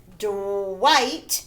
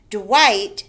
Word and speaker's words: Dwight: sorry at the top dwight the gh is silent dwight spied a moth by